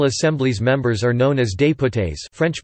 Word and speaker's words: député: The National Assembly's members are known as députés (French pronunciation: député, delegate or envoy in English).